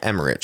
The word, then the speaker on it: Emmerich: Now, the director is Roland Emmerich, who has done a lot of great stuff. Yeah, Absolutely. I saw that. Mm-hmm. And it's pronounced Emmerich, just so you know.